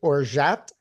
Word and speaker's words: orgeat: Now, a lot of recipes will call for this, which, if anybody can see, it's, I had no idea how to pronounce it. Apparently, it's orgeat.